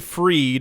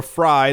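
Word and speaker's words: Fried: screen uh Sam Sam bankman freed or fry depending on how you want to pronounce his last name he's the CEO of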